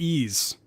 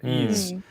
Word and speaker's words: Ys: You say it like Ys. Yeah, Ys.